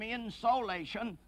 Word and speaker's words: insolation: I pronounce that insulation to distinguish it from insolation, a point I made once before on a program, insolation, incoming solar radiation.